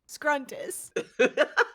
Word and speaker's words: Scruntus: it's easy to remember it's scruntus rhymes with scrutiny and here is what